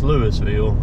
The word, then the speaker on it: Louisville: Louisville Mississippi that's how it said here is Louisville unlike Louisville Kentucky that's just how they pronounce it here just just the way it